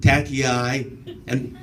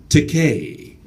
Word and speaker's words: Takei: I've been called Tacky-eye or Tacky. I've been called Tacky, and that is tacky. I've even been called Tequila, you know. How they get that? It's Takei, not Takai.